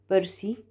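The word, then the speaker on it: bursae: لو الكلمه اللي عندي السنجلر اخرها ايه، اخرها ايه زي برتبرا او برسا، هتبقى في الجمع هتبقى ايه، اي وهتتنطق اي، بيرسي فيرتبري، بيرسي فيرتبري، هزود عليها حرف الاي.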